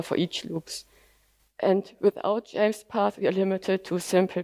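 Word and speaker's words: JMESPath: James path is pronounced uh James path and a declarative query language for JSON which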